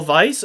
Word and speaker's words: Weiss: I bought this with channel funds Daniel Vice over at Vice Engineering and it is Vice Engineering. I confirmed this with the owner over there. The name we ss is pronounced as vice as in head n in a.